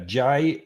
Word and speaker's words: Genever: Geneva, Genever. Geneva is a drink from which country? These are tricky. Mark's thinking of Geneva, Yeah. which is spelled with a G, which is actually a G, not a J.